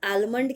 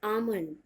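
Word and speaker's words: almond: लोग इसे आलमंड कहते हैं, आलमंड। इट्स नॉट आलमंड, इट्स नॉट आलमंड, इट्स आमंड, आमंड, clear. Even अगर आपको अच्छा प्रोनाउंसिएशन चाहिए तो आप डी पर भी बहुत ज़्यादा स्ट्रेस ना दें, आप बोलें आमंड।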